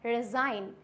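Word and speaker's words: resign: Second आता है रिज़ाइन।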